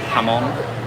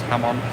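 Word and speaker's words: jamón: And you can look this up as well of the process of um Hammon. It looks like it's spelled jamon, but it's ham on.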